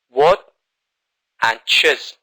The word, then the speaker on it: watches: What and chiz. What and chiz. So we have two syllables, but without es, it's just one syllable.